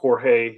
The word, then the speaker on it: Jorge: get his name pronunciation Jorge Missouri he didn't do all of them but I know we did some of them well in in most often when you see young John it's hor it's him and his work